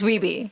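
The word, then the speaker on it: Wiebe: it right yeah because they were saying hey Walter it's weebie yeah say it again he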